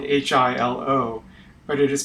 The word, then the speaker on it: Hilo: Hilo Queen is named for Hilo Hawaii Hilo is spelled h i l o but it is pronounced Hilo the queen project